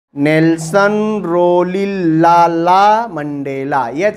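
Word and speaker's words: Rolihlahla: Nelson रोली लाला Mandela यह silent हो जाता है ठीक है नेलसन रोली लाला मंडेला समझ में आ गई बात एच साइलेंट कर दो हो जाएगा ठीक पढ़ने आ गया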